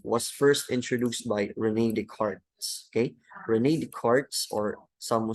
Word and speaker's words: Descartes: So this concept of reductionism was first introduced by René Descartes. Okay? René Descartes, or some scholars would say nga René Descartes lang ang pagbasa ani, but I think that's true.